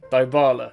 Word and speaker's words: Dybala: However, when I tested this in FC24, I said the player's name wrong and a lot of people got very mad at me. Dybala, Dybala, Dybala, Dybala.